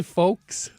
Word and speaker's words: folks: folk song if you're if you're talking about those folks over there I would not pronounce the L and it's like I